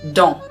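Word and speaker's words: dans: very very frequently is don't and that word is pronounced or spelled d-a-n-s don't for instance we're also not pronouncing the end uh which is the s we're just don't wait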